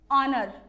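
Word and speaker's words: honor: ऐसे ही एन ऑनर, तो ये हॉनर नहीं है, एंड ऑनर है, तो इसमें भी एच क्या है?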